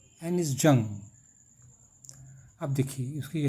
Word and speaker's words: Anees Jung: lost spring bye एनिस जंग pronunciation है ये एनिस जंग अब देखिए इसकी है क्वेश्चन नंबर देना है